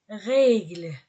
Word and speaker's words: règles: singulier au pluriel les règles on ne prononce pas le S la tasse féminin singulier